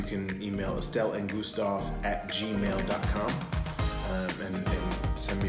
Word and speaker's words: Gustav: T o FF for Gustav it rhymes it off Gustav and I won't give